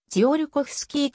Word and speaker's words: ツィオルコフスキー: であったため本来のせはポーランド語で信洋コスキーであったがロシアで生まれたことからロシア風にジオルコフスキーと発音するようになった 1867 年 10 歳